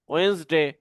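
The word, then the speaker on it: Wednesday: তো এইগুলো সঠিক উচ্চারণ হচ্ছে ডিফারেন্টলি, বেসিকলি, অনেস্টলি, ওয়েন্সডে।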